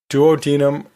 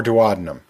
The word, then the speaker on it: duodenum: The first term can be pronounced either of two different ways: duodenum or duodenum.